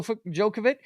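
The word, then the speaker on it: Djokovic: here I forgot about um we've got uh jokovic yeah I think I'm pronouncing that correctly yes that's Novak Jo jokovic yeah he wins uh a gold medal which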